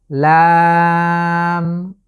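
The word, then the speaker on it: لام: এর নাম হচ্ছে লাম। বাংলায় যে ল আকার এবং ম, ঠিক সেভাবে আমরা উচ্চারণ করব, তবে এখানে আমাদেরকে 3 আলিফ লং করে পড়তে হবে, লাম, লাম।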